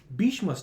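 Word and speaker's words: Bhishma: Like these aren't the people Bishma stays with me. Bishma Bishma's Bishma will two syllables you can remember throughout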